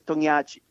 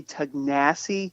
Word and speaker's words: Tognacci: We say Tognaci, but it's Tognaci. Tognaci. Tognacci. So Dylan Tognaci. Yeah, but you say it the Italian way, and Americans say it like they say American anything. Well, there's a lot of people say Tognacci, which drives me nuts because the two C's aren't a C, it's a chi.